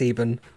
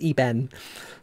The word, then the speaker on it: Eben: Sasm says, I know it's Eben. It's Eben, not Eben, how it's pronounced.